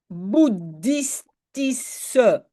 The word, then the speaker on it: boeddhistische: Terwijl de bouddhistische. Et vous ne prononcez pas che à la fin, hein, vous prononcez S.